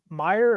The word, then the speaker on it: Mayer: And he's I love I love uh Meyer or Mayor, however you want to say his name.